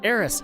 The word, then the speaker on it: Aerith: Aerith. Or Eris. Sorry, we're saying it right. Eris, have you forgotten me too? I hate that pronunciation.